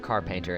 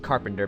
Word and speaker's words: Carpainter: to take on Mr car painter and by the way it is car painter if you I'm not just I'm not mispronouncing Carpenter because that is a completely different spelled word so let's go ahead